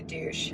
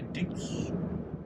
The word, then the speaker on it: deuce: i did learn that it's wrapped up like a deuce like a juice but what's a deuce